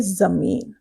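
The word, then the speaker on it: ज़मीन: फा के नीचे बिंदी लगती है, ज के नीचे बिंदी लगती है, तो इसका उच्चारण ज हो जाता है।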